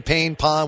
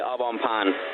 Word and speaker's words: Au Bon Pain: Because I'm saying Pain Pond. What is the name of it? It's actually Au Bon Pain.